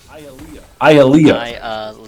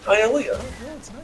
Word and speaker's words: Ialea: Ialea is how you're supposed to pronounce it. That's still very unusual. Okay, Ialea.